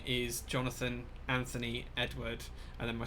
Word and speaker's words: Jonathan: Jonathan, not. Interestingly, it is spelled all O's as well as Jonathan. It's spelled JONOTHON, so there you go.